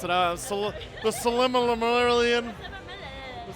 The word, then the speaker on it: Silmarillion: I can't pronounce it. The Silmarillion. The Silmarillion, yes.